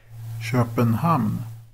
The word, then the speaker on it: Köpenhamn: So here's how a Swede says Copenhagen. Köpenhamn.